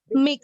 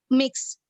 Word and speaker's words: Mx: is used okay mx mx how it is pronounced it is pronounced as mix once again mix yes repeat this once